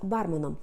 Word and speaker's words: бармен: стати актором Брюс Вілліс працював барменом з наголосом на А так от Він вирішив